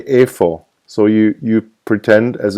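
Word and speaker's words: איפה: have the h but you don't pronounce the yod in this case so you don't see you don't say I4 you say A you say A4 so you you pretend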